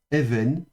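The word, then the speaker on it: אֶבֶן: se lira de nouveau avec le alf muet. Donc on prononce uniquement la voyelle et puis le va précatif et puis la voyelle suivant. Donc ve v donc v avec le noun final. Donc ça c'est Even et ça c'est la pierre.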